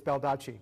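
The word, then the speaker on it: Baldacci: David Duque Bob dodgy I'm not saying it right it's bel touchy but that's okay it's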